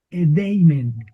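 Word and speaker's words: ᾔδειμεν: Edeimen, Edeimen, Edeim, Edeimen, Edeimen, tiene el acento en la eta.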